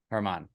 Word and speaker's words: Germán: Germán. Germán. It's spelled German, but it's you Germán.